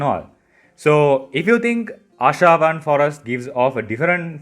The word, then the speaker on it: Ashavan: Ashavan. You can remember it easier as Asha 1.